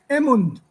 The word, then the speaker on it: Emund: Emund.